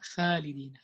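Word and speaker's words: خالد: So the kha is heavy, and also the alif after kha is heavy.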